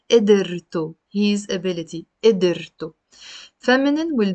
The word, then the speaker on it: قدرته: You see here I pronounced it قدرة. There is a سكون on the دال. Here I'm pronouncing it as if you're putting like a كسرة under the دال. قدرته his ability.